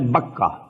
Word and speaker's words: Bakkah: one that is at Bakkah. Bakkah and Bakkah is the same word. Two pronunciations of the same word.